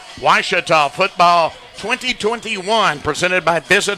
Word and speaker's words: Ouachita: quarter our score washita 35 southern arkansas 7 washita football 2021 presented by visit hot springs continues in 30 seconds here on the ouachita football network i've heard people say oh a cheetah oh wish tall oh a cheetah is it